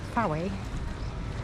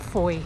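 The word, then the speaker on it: Fowey: who are not local, you may pronounce it fi, but I'm not proficient in phonics, and I don't really know why, but I'm proficient in Cornish, and Foy is definitely how it's pronounced.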